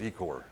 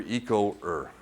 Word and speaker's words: Ecoer: we do by the way it's called it's pronounced ecore my first meeting as i've been with the